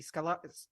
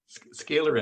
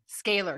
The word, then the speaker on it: scalar: thank you this conversation about it the energy scholar I'm like blurting it out again say it out loud scalar energy scalar because I was going to mispronounce it again